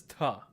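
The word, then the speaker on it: त: So this is ta. To pronounce ta, think of the word think, T-H-I-N-K. But instead of saying think, say tink, ta, ta, tink, think, tink.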